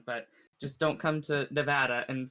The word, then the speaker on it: Nevada: and here we go right now it is pronounced nevada not nevada okay sorry oh nevada i don't hear